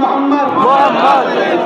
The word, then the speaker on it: মুহাম্মদ: আপনারা সবাই একবার বলুন মুহাম্মদ, আপনারা উচ্চারণ করুন মুহাম্মদ। খেয়াল করতে কোন নবীর নাম নিলে দুই ঠোঁটে ঠোঁট ঠেকছে, বলুন মুহাম্মদ।